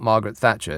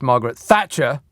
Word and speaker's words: Margaret Thatcher: Can I just correct you on your pronunciation? It's not Margaret Thatcher. It's Margaret Thatcher.